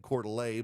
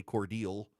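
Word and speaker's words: Cordele: So she went to what in Illinois is Coeur d'Alene and said Coeur d'Alene, but in Georgia we say Cordial.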